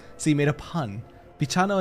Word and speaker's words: bichano: Bichano is how you say kitty in Portuguese, but it's short. So writing with an E makes English speakers pronounce it right.